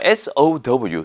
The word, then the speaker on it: sow: 이 SEW와 SOW 둘 다 발음이 똑같습니다.